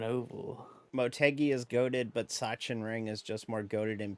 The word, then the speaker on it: Sachsenring: How did I pronounce Sachsenring? Sachsenring.